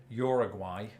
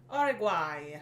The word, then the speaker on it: Uruguay: let us know which is closest to your pronunciation well I think I know you're applying this one Uruguay Uruguay oh do you usually do it like that and no we don't usually affect this one Uruguay yeah but yours is closer again I think